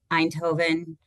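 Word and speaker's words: Eindhoven: And um I should have confirmed how to pronounce this with David ahead of time. I always say it wrong. Einhovven, Netherlands.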